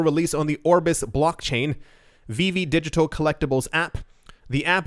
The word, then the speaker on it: VeVe: That is VV, it is spelled VEVE.